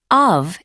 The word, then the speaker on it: of: Before vowel sounds, of is pronounced of. For example, 1, The heat of August sounds like the heat of August. before consonant sounds, of is reduced to a.